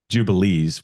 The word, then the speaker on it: Jubilees: Jubilees with an S on the end. Okay, so take out the like S. Illinois. Yeah, right. Yeah, there you go. Except you pronounce the S.